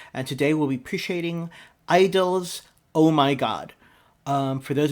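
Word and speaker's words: (G)I-DLE: to read it as G Idol. The G is silent, so that's why I'm calling it Idol.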